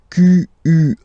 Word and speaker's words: quel: Quel, masculine form here, will be pronounced exactly as the feminine form here.